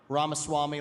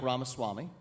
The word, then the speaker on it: Ramaswamy: February by the way V like cake and ramas Swami like ramas Swami is how you say it okay and that's